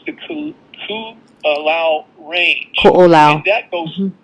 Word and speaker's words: Ko'olau: There's one, it's called the Koolau Range. Ko'olau.